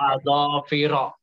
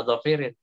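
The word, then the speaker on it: أظافر: min sya'arin wasil'atin wa adhafira. Wah, cukup dulu. Ini dulu. Adhafira dia majrur dengan fathah. Kenapa? Karena dia kan ma'tuf tuh. Ke sil'atin, sya'arin. Nah, jangan bacanya adhafirin.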